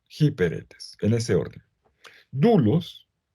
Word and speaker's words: doulos: etes en ese orden dulos se escribe doulos dulos se puede se